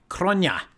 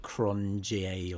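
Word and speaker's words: Cronje: the legend is andre cronia he's south african i believe so that's how you pronounce his name it's not cronjie or something but yeah you can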